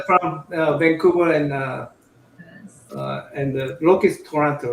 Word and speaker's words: Toronto: Alex is from Vancouver, and Loki is Toronto, right? You're Toronto? Yes. It's so funny when Americans say Toronto because they say it with a T.